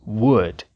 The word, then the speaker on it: would: exemplo w Talk e já que estamos falando de L mudo vamos lembrar que nas palavras would could e should a letra L também não é pronunciada What up What up